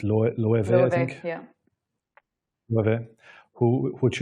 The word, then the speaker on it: Loewe: So for anyone that doesn't know Loewe, absolutely check it out. So it's spelled Loewe, but it's a Spanish brand, and that's why the W sounds like a V.